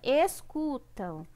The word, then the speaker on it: escutam: vamos pela primeira palavra escutam pela leitura eu já sei qual é a sílaba tônica tá a gente pode colocar separadinho assim ó escuta am é a sílaba tônica eu tanto tá se é a última sílaba então é uma oxítona a próxima palavra amizade